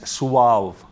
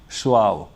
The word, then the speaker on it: suave: This is pronounced as suave. That's the pronunciation, suave.